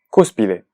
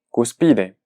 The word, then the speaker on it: cúspide: marcamos el acento gráfico, al ver que esta palabra termina en vocal, lo que uno espera es que sea pronunciada como una palabra grave. Es decir, su pronunciación sería cúspide. Cúspide. Sin embargo, yo no mencioné cúspide, yo dije cúspide. Cúspide. Entonces, como podemos sentir, cúspide no es una palabra grave, es una palabra esdrújula, Por lo tanto, al